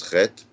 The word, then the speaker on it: Chet: The eighth letter is Chet, which I said, this is the hard letter to pronounce.